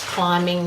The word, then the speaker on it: climbing: think from Latin and sometimes when you're making these words longer for example limber up you do say the b and when you extend blue but not always climbing we don't say the bee so m b syllable